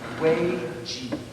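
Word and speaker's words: 危机: is Chinese, I beg your pardon for the pronunciation, but it's Wei Ji.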